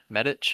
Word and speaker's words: Medić: Medich, I believe is how you pronounce that little on the C, you know what I'm saying? The little little dot over it.